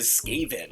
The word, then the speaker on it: Skaven: It is Skaven. Skaven! Skaven! Well, let's take a look at Skaven. Can I mispronounce everything and then you'll put it in